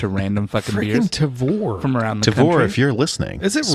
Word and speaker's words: Tavour: random four from around Tavor if you're listening is this really pronounced Tavares or TAVR it's ta vou like savor rhymes with savor let's say maybe they